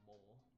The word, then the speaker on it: mole: The silent E at the end of the word makes the O say O.